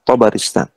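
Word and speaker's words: طبرستان: sini Kita tahu thaaristan cara bacanya ee thya di Fathah bnya difatah rnya di kasrah ya sinnya di sukun kemudian tanya di fathah tharistan Wul wa hijriat beliau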